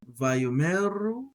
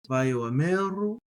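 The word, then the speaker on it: וַיֹּאמְרוּ: If we treat it as silent, Vayomeru. If we pronounce it, Vayomeru. And it doesn't sound that different. So Vayomeru, Vayomeru. There's just that little Vayomeru, Vayomeru, Vayomeru, Vayomeru. So I like to pronounce it.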